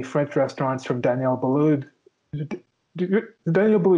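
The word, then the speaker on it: Daniel Boulud: restaurant from danielle balloud daniel blue not seen that name wrong well the d is silent but a lot of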